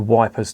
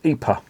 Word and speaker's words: Ypres: like me really, and they couldn't pronounce Ypres. It's spelled Y-P-R-E-S, and they just thought, well, fuck it, we're going to call it Wipers. And that's what it was known as, Wipers.